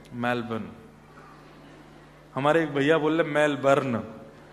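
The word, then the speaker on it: Melbourne: करेंगे कहां रहते हैं मेलबर्न हमारे एक भैया बोले मेलबर्न जो मैल को जला दे मेलबर्न मैंने कहा नहीं मेलबर्न र जो है वो साइलेंट बोलो तो लेकिन हुआ क्या यहां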